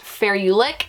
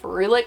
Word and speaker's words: ferulic: need to be adding, I believe it's pronounced ferulic acid. When you look it up on how to pronounce it, that's what it said. I've always said ferulic, but I hear it's now ferulic is the appropriate way to say it.